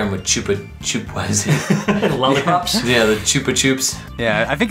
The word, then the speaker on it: Chupa Chups: Yeah, the Chupa Chups. Yeah, I think it's pronounced Chupa Chups, because I know the Lonely Goomba like referenced them in one of his videos.